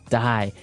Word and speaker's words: dye: Dye. So it's pronounced exactly the same way as, to die, to not live anymore.